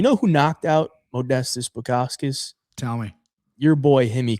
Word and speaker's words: Bukauskas: Bukauskas? Is that how you say it? Bukauskas. There's an S before the K.